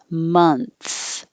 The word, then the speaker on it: month: But 27, the vowel is as in up. Month. It's the same and the combination as must and mug and money, even though that's spelled with an O.